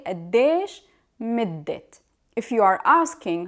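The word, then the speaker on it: مدة: Midde, as you see, it has ta marbuta at the end. It's pronounced usually as a or e. But here we pronounce it as ta because it considered as idafa with the word that it comes after it. So we have to pronounce it middet.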